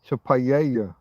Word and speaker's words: paella: Double L used to be its own letter. It's pronounced G, but it's so paella, paella, P-A-double-L.